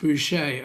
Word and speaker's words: Boucher: For those that are interested, the pronounced Boucher. Oh, excuse me. That's like an old English TV show where there's this lady, Mrs. Bucket, and she prefers to call herself Mrs. Bouquet.